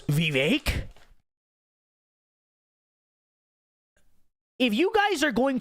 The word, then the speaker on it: Vivek: you know it's Kamala they do the same thing with vivec don't they don't you know it's Vivek if you guys are